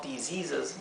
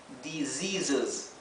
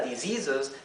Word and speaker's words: diseases: Como diseases, ¿sí? Fíjense que esta palabra diseases no se pronuncia con la S, diseases, no, diseases, ¿bien?